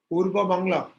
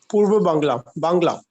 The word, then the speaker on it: Purba Bangla: So how do you pronounce that, Achyut Chandra Prabhu? Purba Bangla. Purva Bangla.